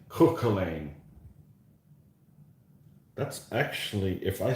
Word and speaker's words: Cuchulainn: I'm not up on my Gaelic pronunciation, but Cuch is Cook, Cook, and then Cuchul, and then Ainn, Cuchulainn.